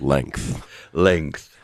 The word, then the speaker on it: length: Height, width, length. Length. It's funny because the pronunciation of length is like a K in the middle.